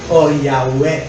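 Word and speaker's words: Yahweh: at Ginawa itong Jehova Pero ang totoo niyan ang tamang pronunciation nian ay yah yahwe Ibig sabihin po Lord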